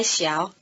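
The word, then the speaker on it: 小: here it's modified by xiao small to be more specific repeat small pastries notice that the low tone of xiao changes to rising tone before the low tone of the following syllable the chinese unit of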